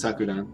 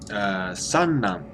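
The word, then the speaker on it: 散乱: I think it's sakuran. Let me search for sakuran. Oh, it's not sakuran. No. Chiru. Oh, how do you say that? I just did this one. Chiru ran. Oh. Sanran. So.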